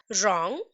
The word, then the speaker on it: wrong: ठीक है, wrong, see W and R एक साथ यूज हुए हैं and in this case also W is silent।